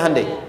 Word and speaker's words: Hyundai: Kita bisa kita dari tekad sehingga ketika di sana bikin Honda sini Hande Hyundai kan dibacanya Hande ya kan sana Honda